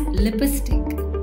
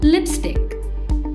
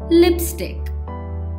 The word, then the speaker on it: lipstick: the correct pronunciation is lipstick this is simple to learn try and add the two words together lips and stick and make the s common so it becomes lipstick an hour is a